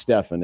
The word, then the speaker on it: Stephen: It's pronounced Stephen.